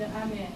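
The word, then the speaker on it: 飴: In Japanese, we don't use stress accent, but pitch accent. Ame and ame, these are spelled the same way. Candy is ame, and rain is ame. I didn't change the force or stress.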